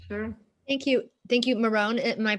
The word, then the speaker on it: Myron: Thank you, Marone. Am I pronouncing that correctly?